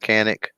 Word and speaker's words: Canik: your list mechanic right canik uh also century of course you get any clarification on the appropriate pronunciation they got all said canik so i'm going with kanik wow um yeah nobody